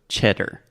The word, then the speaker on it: cheddar: So cheddar. Cheddar. Mm-hmm. So the first sound is che. Che. So it's not sh, but ch, like Chiago.